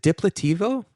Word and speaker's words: Diplativo: site, which, by the way, if you can pronounce this for me because I'm going to butcher it, is it Diplativo?